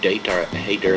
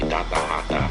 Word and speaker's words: Data Hater: Is it like Data Hater, like hater of data, or? Yeah, I think it is like hater. I just realized that that's how you say it, because in Europe you say data hata.